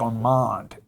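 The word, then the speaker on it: Ormond: It's really like Armand Investment. Oh, is that how you say it? Armand. Or O R M O N D.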